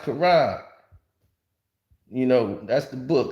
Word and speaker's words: Quran: k it says a cute no it's it's pronounced Kuran you know that's the book of Islam it's Quan it said curan see q q that's a q say curan no no man it's it's pronounced Quran man it's Islamic see I'm speaking AR it's